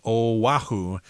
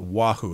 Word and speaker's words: Oahu: I guess you're supposed to pronounce it as Oahu, not Wahoo, as I just said.